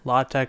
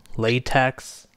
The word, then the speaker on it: LaTeX: Well, it's basically you pronounce it how you want because there's no official pronunciation. People will tell you there is. There's not. Leslie Lamport, who created LT, Latte is the pronunciation I usually go with. He specifically said he's not going to tell anyone how you should pronounce it. So you can pronounce it latte.